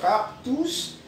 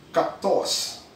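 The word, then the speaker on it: kaktos: And ang pronunciation nun, dahil nga Latin word siya, K-A-K-T-O-S, so hindi siya cactus, cactos.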